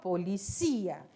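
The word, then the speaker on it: policía: de tonalidade em português Police polícia em espanhol policia e olha alí de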